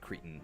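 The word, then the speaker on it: cretin: Kids probably do know what Cretton means cuz uh they used it in Monsters, Inc. Randall called him a but then Mike Wazowski corrected him. It's pronounced cretton.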